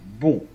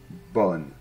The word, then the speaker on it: bon: de la même manière eau et n se combine pour former le son e bon bon et pas bonne non non d'accord ici